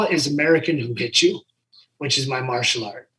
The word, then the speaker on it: Whu-Hitu: Who Hit You. But I spell it WHU-HITU. Like Who Hit You, or like jiu-jitsu, but Who Hit You.